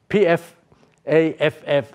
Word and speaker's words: Pfaff: the name of Pfaff, P-F-A-F-F, I don't know how to pronounce that, I call it Pfaff, okay?